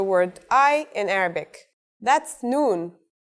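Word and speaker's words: نون: al if now we will learn the final letter needed to write the word I in Arabic that's noon the noon is pronounced just like the English N pretty easy right it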